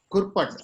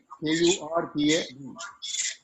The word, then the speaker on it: Kurpad: Kurpat, have I pronounced your name correctly? Kurpad. Mr. Kurpat. Kurpad. That's perfect.